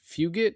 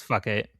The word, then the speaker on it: Fugit: And not just first of all, Patrick Fugit, I believe is probably how you pronounce that. It's fuck it. Well, it'd be Fugit, first of all. I don't know how the G would go to a C.